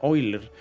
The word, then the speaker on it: Euler: una constante matemática llamada el número de Euler que se pronuncia eiler y su valor Es